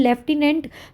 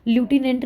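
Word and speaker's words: lieutenant: तो कहते हैं लेफ्टिनेंट लूटिनेंट नहीं होता। लेफ्टिनेंट होता है।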